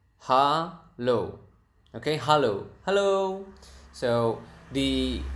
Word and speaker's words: halo: Expressions number one is hello is quite similar is Halo Halo okay hello hello so